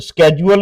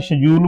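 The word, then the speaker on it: schedule: अब स्केड्यूल इसको बोलते हैं, शेड्यूल बोलते हैं। ये जे से इसकी साउंड आती है।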